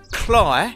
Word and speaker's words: Cley: have a video on it so we're at cly see I said it right Marsh's in Norfolk